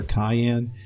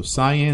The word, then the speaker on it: cyan: you don't think so I now know how to say cyan I always talk about that color Cayenne I know I sound